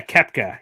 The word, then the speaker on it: Koepka: Yeah, Koepka. Yeah, that's how it's spelled, and also how it's pronounced for that matter too.